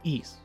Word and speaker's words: Ys: If you've never engaged with the series, you might be asking, "What the hell is East? What is that? That's how you say it."